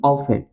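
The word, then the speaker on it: often: ठीक, इसे ऑफन या ऑफ्टन, ठीक है, इसे कहते हैं कि हम ऑफन। आई ऑफन went to market on Sunday. अब इस वाली लाइन में क्या कह रहा है कि I went to market on Sunday. मैं अक्सर जो है संडे को, ठीक, संडे को ही मार्केट जाता हूं, अदर मैं नहीं जाता हूं। तो ऑफन, यहाँ पे टी जो है हमारा क्या है?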